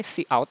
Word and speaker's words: cout: std, tulisan seperti ini, titik dua, kemudian ini bacanya cout. Ya, C, huruf C-nya di depan dibaca C, kemudian out.